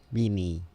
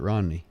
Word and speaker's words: Romney: Rennie. Rennie? Rennie? How you pronounce it? Romney? Romney? Yeah, Romney.